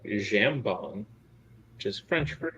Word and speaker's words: jambon: sounds a lot like jambon which is French for H it's hamon the B is not pronounced j j a m